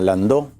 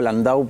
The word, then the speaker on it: Landau: Yo lo escuché esta mañana a Landó, o Landau, sí, el apoderado del PJ histórico. Jorge Landó. Sí. Él dice, digo Landau porque él dice que se pronuncia Landau.